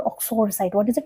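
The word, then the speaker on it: uxoricide: Next word is, how do we pronounce this word? It's called oxoricide. What is it? It's called oxoricide.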